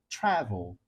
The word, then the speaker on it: travel: Não, eu falo travel. Travel. A primeira sílaba é a mais forte.